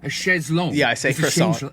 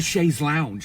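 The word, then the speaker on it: chaise longue: And it's like a sh a shezlo. It's a sha's lounge. They've they've completely ruined they take they've ruined it.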